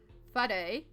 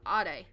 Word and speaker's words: whare: So instead of whare, which is like a meeting house, we'd say whaare.